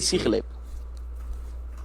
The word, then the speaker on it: Sigilyph: I always pronounce it Sigilyph because the G is like it's guttural.